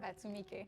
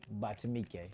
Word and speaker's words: Batumike: Did I pronounce that right? Batumike. Batumike.